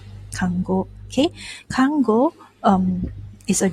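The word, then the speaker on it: 看護: is actually also a word okay it's actually pronounced as kango kango okay kango um is a job that is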